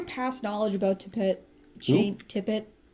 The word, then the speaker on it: Tippett: Tippett? Stop it. Are you going to knock it over? Or are you just going to tip it? Okay, I got you. That's how you say it. Tippett.